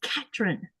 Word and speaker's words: Catherine: Like here when they say uh Catherine, it's not they don't have that th sound. It's Catherine. Oh.